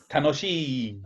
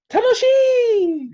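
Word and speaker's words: 楽しい: Tanoshi. Ah. No, sorry, you have to say it like this. Tanoshi!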